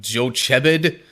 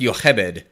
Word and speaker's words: Jochebed: That in the English spelling, that looks like it would be like Jochebed, but this is one of those ones where I actually kind of know the Hebrew pronunciation. Thank you, Prince of Egypt movie. It's pronounced Yochebed.